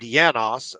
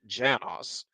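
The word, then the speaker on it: János: of course is named yanos but of course it's the first letter is J so I think in Hungarian it would be yanos but in English you might actually pronounce it Janos and of course Janos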